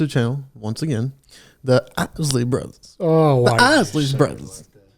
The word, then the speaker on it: Isley: The Isley brothers.